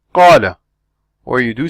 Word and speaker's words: قال: So you open your mouth as much as you open it when you pronounce an A in car or cat.